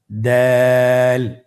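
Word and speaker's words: دال: দালের মাখরাজ কোন জায়গা থেকে? আপনারা স্ক্রিনে দেখুন। ছবিতে দেখা যাচ্ছে জিহ্বার আগা সামনের উপরের দুই দাঁতের গোড়ার সঙ্গে লাগিয়ে উচ্চারিত হয়।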